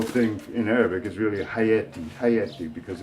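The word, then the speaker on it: حياتي: So haya is vida, so we attach a subject pronoun at the end of it, and it becomes hayati. And pronounced in dialect, it's pronounced more hayati, in vez de hayati.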